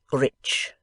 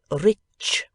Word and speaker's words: rich: foreign gentleman founded without doubt enor re enormously Rich we say returned Mr pot snap in a